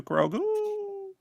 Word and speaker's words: Grogu: You gotta say it like I do, Grogu. Grogu. It's like Cookie Crisp, actually.